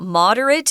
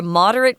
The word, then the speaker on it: moderate: Now, I was talking about moderate. If you're a moderate person, that's the adjective form. And listen, there's a difference in pronunciation. Moderate, moderate. To moderate. Moderate is the verb, and that's the one we're using in the article.